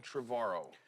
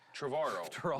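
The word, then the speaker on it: Trevorrow: I'm here with uh my guest Colin Travaro. You said it right. Finally. Travaro like tomorrow.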